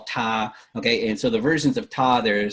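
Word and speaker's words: 他: pronounced exactly the same they're written differently but they're pronounced the same so it's all ta okay and so the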